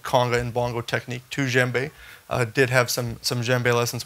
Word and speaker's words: djembe: So Djembe, pronounced Djembe, not Djambi or Djambe, or I've heard everything.